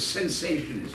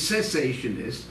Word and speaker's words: cessationist: So people say, well, you're a cessationist, or they mispronounce it. You're a sensationist. No, no. The word is cessationist.